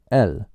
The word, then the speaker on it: el: The masculine Spanish word for the sounds like L. L. And in case you're watching this video in your car, that's spelled E L. And just sounds almost like you were saying the letter L almost.